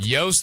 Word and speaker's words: Joost: And we talked a lot about Danny Willett and Joost Luiten or Luit- Luiten or whatever his name is. Joost like toast. Joost like toast.